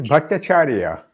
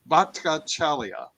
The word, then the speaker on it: Bhattacharya: You can probably pronounce it better than I can. It is Bhattacharya. Bhattacharya.